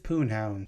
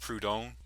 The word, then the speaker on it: Proudhon: The term was coined to describe oneself politically by Pierre-Joseph Proudhon. This is somewhat of a minor nitpick, but it's actually pronounced Proudhon.